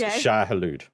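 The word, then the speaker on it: Shai-Hulud: So, let's let's see if we can practice the pronunciation of the the correct term for worm. It is shahalude.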